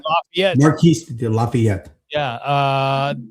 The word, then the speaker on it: Lafayette: Curds, John Lawrence, Hercules, and Marcus Marquis de D I don't want to pronounce it. Lafayette. Lafayette.